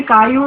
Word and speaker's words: കയ്യൂർ: IPTA ബംഗാളിയിൽ കയ്യൂർ സഖാക്കളെ ফিরাইয়া দে দে দে মোদের কাയൂർ বন্ধু ദേ ദേ. അത് ബംഗാളി ഉച്ചാരണത്തിൽ കായൂർ എന്നാവുകയാണ് കയ്യൂർ എന്നുള്ളത്.